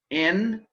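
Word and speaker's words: ἐν: Hutos, this one, it means, hutos ein en arche pros ton theon. And did you notice the difference in pronunciation between ein and en, eta and epsilon?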